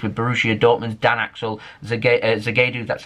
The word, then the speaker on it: Zagadou: They're getting linked with Borussia Dortmund's Dan Axel Zagadou, that's how you say his name as well.